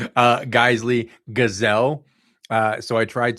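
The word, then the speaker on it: Geissele: He pronounced it jizzle.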